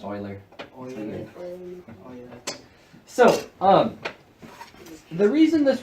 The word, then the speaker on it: Euler: with big you there's me you but it's pronounced Euler so um the reason this works is if